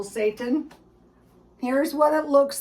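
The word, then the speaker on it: seitan: this first this is satan it's pronounced like the devil satan here's what it looks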